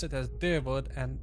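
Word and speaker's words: Dyrwood: keep to the old ways okay so they pronounce it as dewood and Eder okay need to remember it's truly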